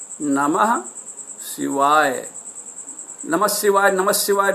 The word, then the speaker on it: नमः शिवाय: video में बताया है कि नमः शिवाय का शुद्ध उच्चारण ऐसे करें ना महक शिवाय क्या नम्ह शिवाए ओम नमः शिवाए नमः